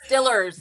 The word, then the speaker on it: Steelers: Well, I guess they say it's Stillers here. I still say Steelers.